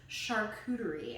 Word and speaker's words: charcuterie: So that's how you say it, by the way, is charcuterie. And the word charcuterie actually only refers to cured meats. It doesn't refer to anything else. So if you're asking for a cheese and charcuterie board with no meat, you're technically no longer